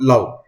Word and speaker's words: love: These words look like they should rhyme due to their similar endings, but love is pronounced with a short U sound, love, while move has a long U sound, move.